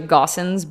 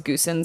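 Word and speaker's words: Goossens: His name's Quentin, and his last name's, it's actually Gossens, but for a long time we thought it was Goosens because that's how it's spelled.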